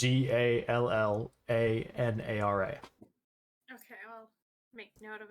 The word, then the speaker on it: Zallanara: And if you want to write down her name, it's Zallanara.